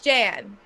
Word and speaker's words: Jan: That's Jan, pronounced Jan, and that's a man's name.